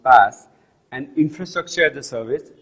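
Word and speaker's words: PaaS: a service pronounced sas platform as a service pronounced pass and infrastructure the service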